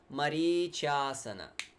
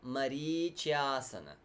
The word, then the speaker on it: marīcyāsana: Okay, going forward, marīcyāsana. Okay, nothing to note except for the long vowels. Rīcyāsana, marīcyāsana.